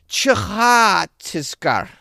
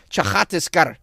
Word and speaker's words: Chhattisgarh: Chhattisgarh. Probably something. It's probably a chh. The C-H and then the H right after the H is for the H after the Ch. Chhattisgarh.